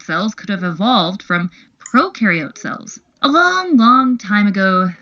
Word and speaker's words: prokaryote: Prokaryote symbiosis means these organisms live together. So just to recap from our Intro to Cells video, when you think of prokaryote, think pro rhyming with no nucleus, no membrane-bound organelles.